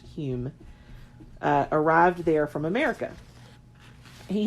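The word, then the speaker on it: Home: name spelt H ome but it says it's pronounced Hume arrived there from America he had been practicing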